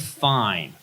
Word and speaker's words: Fiennes: But Rafe Fine is spelled, I'll take the fine, you know, F-I-E-N-E-E-S, you know, the fancy French, leave out the... But the Rafe, when it's spelled Ralph, I mean, come on.